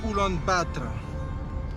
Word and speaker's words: Ulaanbaatar: Here, the locals say "Ulan-Baator", which means "the red hero".